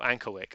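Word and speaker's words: Ankerwycke: Oh, Ankerwick. Okay, that's better. That's better than how I was going to pronounce it.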